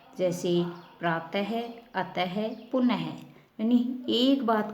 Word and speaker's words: प्रातः: प्रातः है की ध्वनि आती है वैसे लिखा नहीं जाता है, लेकिन इसकी ध्वनि है उच्चारण करते समय प्रायः है ही निकलती है।